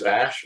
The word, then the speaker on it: Ashe: clients okay well uh my name is ash first name is spelled ashe um i am from